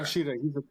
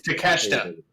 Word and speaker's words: Takeshita: Takashita, he's a Don Callis guy. Yeah, he's definitely. Yeah, it's Takeshita. It's Takeshita is how it's pronounced.